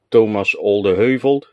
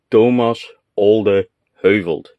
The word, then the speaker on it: Thomas Olde Heuvelt: I have an entire shelf devoted to HEX, and the author, Thomas Olde Heuvelt. Yeah, Jeff, that's how you pronounce the name. Listen carefully. Thomas Olde Heuvelt.